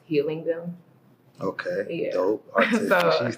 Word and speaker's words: Helium: But it's gonna be pronounced Healing Them.